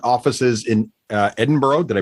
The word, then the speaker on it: Edinburgh: You guys have L offices in uh Edinburgh. Did I pronounce that properly? Uh yes, kind of. Yeah, Edinburgh.